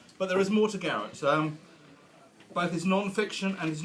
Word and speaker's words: Garet: He was actually christened Edward, for some of you that asked me earlier, and he pronounces his name Garrett.